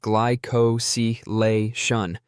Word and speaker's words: glycosylation: This decoration process is called glycosylation, pronounced gly-co-si-la-tion.